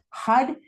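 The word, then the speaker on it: Har: And it is spelled H A R, but it's pronounced like H U D. Hud hud hud.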